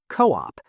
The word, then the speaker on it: co-op: Co-op is pronounced as a single word with the stress on the first syllable. Co-op.